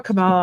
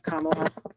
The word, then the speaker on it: Kamala: I always call her Camala. I think I'm saying it wrong. I think it's Kamala. Yeah. Rhymes with Mamala.